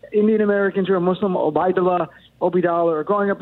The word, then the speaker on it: Obeidallah: people pronounce it because people have spun it so many different ways from i say obidala i was just on my friend rasheed show he obey donald i was on my